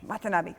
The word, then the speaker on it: Watanabe: yeah and Ken what time want it let's pronounce that formulate what the hobby what can I be Watanabe thank you alright so Godzilla king of the